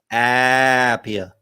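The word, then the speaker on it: APIA: the American Association of public insurance adjusters better pronounced as Appiah yeah that one and Mafia as well and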